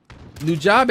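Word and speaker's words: Nujabes: And then Nujabe is how you pronounce his name.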